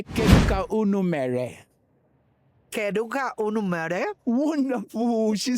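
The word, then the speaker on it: Kedu ka unu mere: Let's start with, you say, Keduka unumere.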